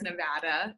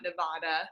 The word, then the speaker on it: Nevada: So, and it's Nevada, not Nevada. It's just so everyone's aware. Nevadans will kill you if you say it wrong.